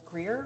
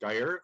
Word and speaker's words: Dyer: much next i see greer or greyer please correct my pronunciation go ahead and unmute you have three minutes yeah hi thanks um yeah my name is dyer um i'm at 38566